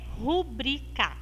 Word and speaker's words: rubrica: está errado porque ela não tem o acento aqui e ela não é uma proparoxítona é uma palavra paroxítona então a pronúncia correta